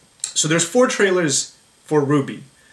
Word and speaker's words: RWBY: I don't actually know why our wby is pronounced Ruby but uh it is so right so the